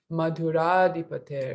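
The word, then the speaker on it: Madhurādhipate: Madhura, because Madhura kind of has the a at the end, but it blends together with Adipater. So Madhuradipater, it's a long a there.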